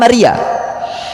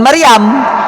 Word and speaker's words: Maria: Ya makanya namanya kan Maria, bukan Maryam.